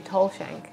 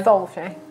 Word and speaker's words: Tholshank: I wonder if by the end of the campaign he'll say Tolshank instead of No. Tholshank. It's spelt Tholshank, so that's what I'm going to Thomas say. is spelled with TH.